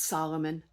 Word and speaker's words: Solomon: Besides 3,300 from the chiefs of Shal Shal, it's Solomon. I always stumble over the Hebrew pronunciation.